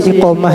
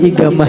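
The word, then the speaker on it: إقامة: asqop dibacanya segap ya kalau iqamah ya anu adalah ikam bisi iqamah ya tulisannya iqamah tapi inya menyambat napa adalah bisi igamah ya ya kalau orang n mukim di Makkah igamah igamah ada igamah padahal tulisan iqomah.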